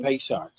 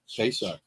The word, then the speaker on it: Pesach: Happy Pesach. That's it. Pesach? Pesach.